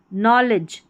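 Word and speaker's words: knowledge: यहां पर देखिए साइलेंट डी यहां पर देखिए नॉलेज नॉलेज यहां ई डी जी ई इसको भी एज पढ़ते हैं। अब यह जो डी है वह साइलेंट रहता है।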